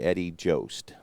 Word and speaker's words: Eddie Jost: name let's see uh sounds like most or both so that'd be Eddie Jost so lined hard to